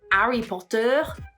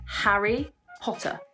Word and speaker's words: Harry Potter: with this and to make sure that we pronounce that H when it's there so for example it's not re Potter it's Harry Potter in French we have